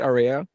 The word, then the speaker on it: Aurea: Have I been saying your name wrong this whole time? You say it Aurea? Yes, Aurea, Oh, like shit.